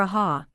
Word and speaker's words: Ahaha: How would you best pronounce it? Is it ah or aha? The man leaning forward to ask this question was the actor, Fujita, whom distinctly remembered having seen on the stage. It's aha.